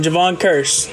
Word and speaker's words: Kearse: that's nice Javon Cur I'll say it right for Genesis one time Javon Cur and a DK metf